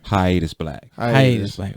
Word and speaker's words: Hiatus Black: name or the stage name your stage name hiatus black okay just be like hi this I'm like